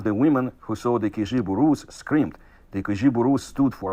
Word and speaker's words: Kijiburus: And he says it, spells it here as Kijiburus. So this is pronounced with the j sound.